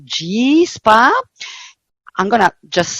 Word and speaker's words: YHI: wellness we have our own in-house brand called G spa I'm gonna just say yhi but it's pronounced G it's the goddess of light so the light